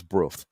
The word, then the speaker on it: Brough: We pronounce that as Brough, and it's where the British Aerospace Factory is, as you know, manufacturers of military equipment and so on and so forth.